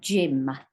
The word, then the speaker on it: gym: So gym, as in I went to the gym. It's spelled with a G, but it says J, Y, and then gym.